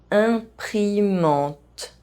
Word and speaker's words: imprimante: E as the last letter of a word is silent in French. Armoire, tasse, imprimante.